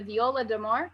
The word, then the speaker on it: viola d'amore: He began his Baroque studies from the viola d'amore. Did I pronounce that correctly?